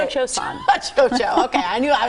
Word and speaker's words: Cio-Cio-San: Cio-Cio-San.